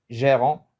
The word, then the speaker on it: gérant: on dit Géron Gon on essaie de prononcer à la marocaine le r on roule on roule le r RA RA gérant exemple on accentue le G g gérant had pardon